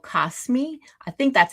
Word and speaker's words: Kosmi: So, I use an app called Kosmi. I think that's how you pronounce it pronounce it, k o s um m i Kosmi.